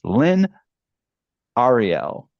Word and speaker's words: Lynne Arriale: It's Lynn Ariel. Right. I pronounced that correctly. Okay. I confused myself about the possible things that I tried. Welcome Lynn Ariel to Piano Tech Radio Hour.